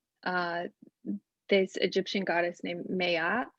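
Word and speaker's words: Maat: also talked about uh this egyptian goddess named mayat miat it's spelled m-a-a-t um but she has like 42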